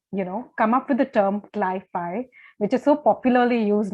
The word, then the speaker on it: cli-fi: So CliFi works, and it rhymes with sci-fi also.